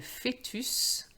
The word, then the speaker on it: fœtus: Same thing for le processus, le fœtus, l'utérus. And that is going to be just like le bus.